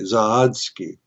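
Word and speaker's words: Zawadski: Um, a man by the name of Bob Zo or I'm gonna spell it. Z A W A D S K I Z Z Oski. Zahodsky died a year ago.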